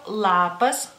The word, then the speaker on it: lapas: por ejemplo por ejemplo lapas lapas es una l como más cerca de los dientes digamos así una Ela más dura más concentrada no